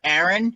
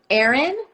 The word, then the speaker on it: Aaron: you want to unmute aaron yep how do i spell it a-a-r-o-n because aaron spelled different ways yep two a's r-o-n or any people call me a-a-ron i get that a lot okay so a a